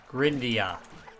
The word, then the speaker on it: Grindea: Supposedly, it's pronounced Oh, shoot. Grindia.